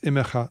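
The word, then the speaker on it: עִמְּךָ: this is spelled right it's immacha not imac god is with you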